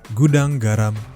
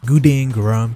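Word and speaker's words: Gudang Garam: Goudang Garam International or as how the westerner will pronounce it, Guden Garam International.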